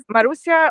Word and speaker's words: Marusya: in Barcelona I see okay Maria am I pronouncing your name correctly Maru you can say Mar marusia or it's better Maru because it's it's just